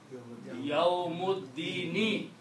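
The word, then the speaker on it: يَوْمِ الدِّينِ: somewhere on this alif, that is joining two different nouns and it is not being pronounced. Okay. So that is this thing. So now the combination of these two words became Yawmuddini. Full word is Yawmuddini.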